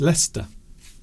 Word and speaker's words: Leicester: But in fact it's Leicester. So there are many places in the UK that are pronounced differently to how they're written.